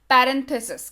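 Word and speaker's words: parenthesis: आपके सहूलियत के लिए मैंने यहाँ पे उच्चारण लिख रखा है, पैरेंथेसिस कहते हैं इसको, और ऐसे इसका नाम राउंड ब्रैकेट सिंबल भी है।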